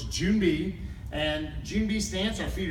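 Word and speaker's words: 준비: So Joon-bi, the way it's pronounced is as like the month of June and the thing buzzing around in the middle of June. So it's Joon-bi.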